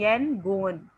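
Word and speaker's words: Yangon: उन्होंने प्रोनाउंसिएशन के लिए YAN सेपरेट किया हुआ है और GON सेपरेट किया हुआ है, यनगोन।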